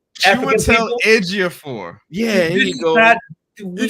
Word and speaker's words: Chiwetel Ejiofor: Because it got Denzel and Athwega. Got it. You say his name. Athwega. Oh my God. What? What's the man's name? Chiwetel Ejiofor.